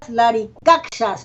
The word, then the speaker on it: Laricaxas: revitalizarlo, y es laripatas, laricaxas con X, que tiene el sonido de la SH.